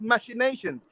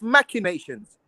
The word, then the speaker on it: machinations: the word machinations machinations it's actually not pronounced machinations it's machinations yeah so once again